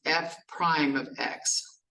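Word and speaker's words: f′(x): as F apostrophe X and the way we pronounce it is f Prime of x so the apostrophe symbol means Prime foreign so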